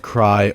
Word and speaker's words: Krai: do know about No Cry currently um so no cry is an automous territory in the south of snis it is part of the cryo region spelled with a K but at the same